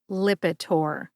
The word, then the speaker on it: Lipitor: Lipitor has three syllables lip like the lips on your face I which is a short eye sound it is similar to the ey that's in the middle of the word president I and tore like my son tore the wrapping paper off his birthday gifts put all three syllables together and you get lipor emphasize that first syllable lip see if you can